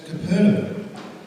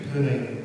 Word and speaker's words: Capernaum: I've been mispronouncing poor old Capernaum as Capernaum, but I did a little bit of homework, so it's actually a combination of two words. It is actually Capernaum, so all those people that I said were wrong.